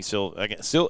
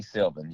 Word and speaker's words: Sylvan: Now when you get a plan from Anthony Silva, am I saying it right? Silva? Yeah. Anthony Sylvan. Yeah. Sylvan. S-Y-L. Yep. Got the N on it.